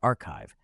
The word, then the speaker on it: arXiv: On March 19th, on Arxiv, pronounced archive, a NVIDIA-led group posted